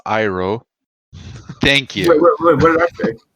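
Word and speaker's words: Iroh: throughout season two well first of all it's iro thank you what did I say don't worry Horizon I mispronounce names all the time I say also Katara red names you said EO oh damn it all right just C too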